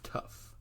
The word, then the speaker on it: tuff: And it's not spelled like you would imagine. It is spelled T-U-F-F. That's tough.